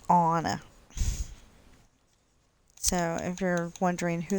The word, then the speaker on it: Anna: They don't say Anna, they say Anna.